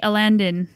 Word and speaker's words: Alandon: So, Mountain by MTB Alandon. You read it right. Oh, he's a regular. He's a regular. We debated for like an entire episode how you pronounced it. It's like Aladdin, but he's yeah.